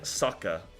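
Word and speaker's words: サッカー: do you say football in Japanese you say Saker you say Saker sorry about the mean casting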